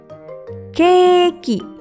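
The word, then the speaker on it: ケーキ: Ditulis dengan huruf katakana, jadi ke, strip, ki, keki. Jadi, kue dalam bahasa Jepang bisa disebut keki.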